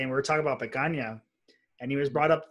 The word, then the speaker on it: picanha: steak you guys have which is picanha my pronouncing that right yes began YUM oh man